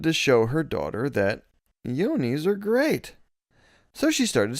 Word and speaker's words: Yoni: Is it Yoni? It's not like Yanni the singer. It's I'm not sure. Or the musician. Maybe Yanni. It would be a long O because the I. Yeah. Yoni.